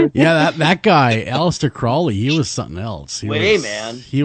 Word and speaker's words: Crowley: now you pronounce it Crowley as that is that the actual pronunciation of his name yeah cuz it rhymes with unholy Oh what's about it